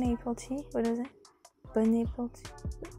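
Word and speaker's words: bon appétit: april tea a lot of french people say bun april tea bun april tea what is it bon appetit bon appetit this is how you pronounce it bun april tea oh never saw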